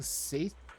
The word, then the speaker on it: satiety: Satiety, I believe, is technically how that's pronounced, but I wanna put an H sound in there.